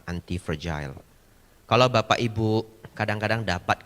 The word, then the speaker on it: anti-fragile: Pronounce-nya yang benar adalah anti-fragile.